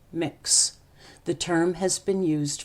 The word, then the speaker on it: Mx: loves the work students call them MX Ox pronounced mix the term has been used for non-binary people